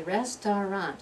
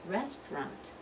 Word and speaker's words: restaurant: favorite word's restaurant okay I don't say restaurant I say restaurant I'm skipping that whole middle syllable restaurant a lot of